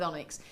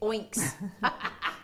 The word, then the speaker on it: onyx: she said I can't help but smile with Onyx because my cousin used to pronounce it oinks green oinks oinks that's great isn't it mind